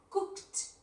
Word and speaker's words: cooked: Vamos a pronunciar todos los verbos. Swam, cooked. Mira, cooked, cooked, cooked.